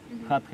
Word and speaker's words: Hatha: Man schreibt das auf alle Fälle mit T und da es ein Sanskritwort ist, spricht man dort das auch mit H, TH aus. Mhm. Also hier wirklich hart gesprochen, dieses TH, Hatha Yoga aus.